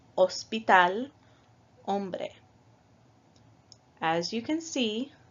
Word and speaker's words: hospital: H in Español, like hospital, hombre. As you can see, we do not pronounce the H in these examples. So in English you would say hospital, but in Spanish we say hospital.